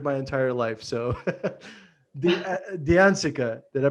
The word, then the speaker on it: D'Anzica: last name butchered my entire life so the diancica did i pronounce that yeah yeah beautiful name thanks for